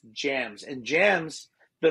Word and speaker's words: JMZ: they think that it's jmz it's not jmz it's jams and jams the letters